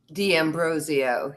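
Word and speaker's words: D'Ambrosio: Uh my last name is Dmbrosio and Dmbrosio. Damrosio. Yeah. Um, the way that I help people pronounce it is it's basically dam bro zo.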